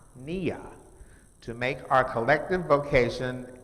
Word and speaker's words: Nia: next the next one is purpose which is pronounced nia to make our collective vocation the building and